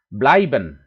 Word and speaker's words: bleiben: kata-kata dalam bahasa Jermannya jadi eight selalu diucapkan bleiben laimen kemudian kalo yg panjang